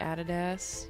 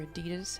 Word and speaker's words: Adidas: shoes let's look like added s or adidas however you want to pronounce that we tend to say added s in Australia cool kicks down here